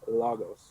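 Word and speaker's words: λόγος: well first of all logos or logos the accent is over the first omicron so it would be lagos lagos so i've been saying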